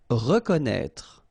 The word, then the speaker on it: reconnaître: Reconnaître. So exactly the same thing with this accent circonflexe on the top of E. You don't pronounce it, okay, but you should write it.